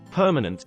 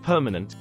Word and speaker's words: permanent: that is not stressed notice that the first syllable p in permanent is stressed but not the middle one where the a is awar is a name